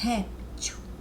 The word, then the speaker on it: réptil: réptil vendo as palavras essa sílaba sobressaio só ré o réptil réptil é como som é como se o som é ele subisse e descesse quando ele sobe a sílaba é a tônica olha réptil oi e